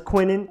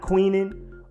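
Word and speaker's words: Quinnen: spin to the IPA it's Quinn and then in like the you have from Hunter x Hunter you have to unlock your name and then his last name is Williams that's easy so that's just starting all very light just wanted to make sure people knew exactly what it was that it was Quintin and not queening or because a lot of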